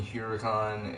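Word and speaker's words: Huracán: ah Khurana tempesta is based on the lamborghini huracan and the 2014 I mean Huracan but I'm saying here oricon because on the 2014 Lotus Esprit tahrir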